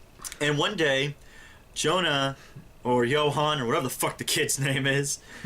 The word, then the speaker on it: Johan: Johan yeah no I I thought they pronounced it Jonah but it's j-o-h-a-n is that not Johan it's I guess it is but they pronounced it Jonah you heard it with